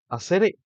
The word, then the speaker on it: asere: Hacer se pronuncia con una fuerza de pronunciación en la primera sílaba, o sea, hacer, y la R es suave, no es una R, sino una R.